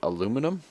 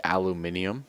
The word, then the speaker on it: aluminium: I was debating doing it out of the aluminum. Or the aluminium, depending on how you say it.